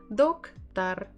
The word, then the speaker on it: Доктор: And where is the stress? Где ударение? Доктор, доктор, доктор, доктор. On the first syllable, that's why the first we say as dok, but the final one we can say as a, tar, tar, doktar, doktor, doktor.